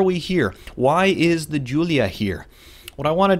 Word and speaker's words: Giulia: is an Alfa Romeo and that's how you pronounce the name of the company the model name is Giulia Giulia it is not GU Clea or anything like that it is Giulia it's the name giulia of course it can